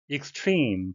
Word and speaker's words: extreme: Extreme, 발음에 의하시겠는데요. E는 장음이 되겠습니다.